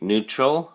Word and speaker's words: neutral: word of the day neutral for week 7 quarter one let's take a look at your flash card neutral has two syllables and the emphasis or stress is on the first syllable new so we say neutral neutral